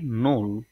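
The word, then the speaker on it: null: যেটা আছে সেটা হচ্ছে জিরো জিরো কে ডয়েসরা বলে থাকে নোল নোল তারপরে যেটি আছে ওয়ান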